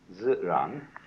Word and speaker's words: ziran: in Chinese is called ziran. That which is so, this means so, this means self. Self-so. What is so of itself? This is pronounced z, this ran.